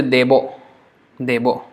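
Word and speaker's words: দেব: So ishto deva again they will pronounce as devo or deb spurti. But because the next one is spurti, they will say debo.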